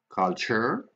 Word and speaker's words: culture: Culture, always che, always ch.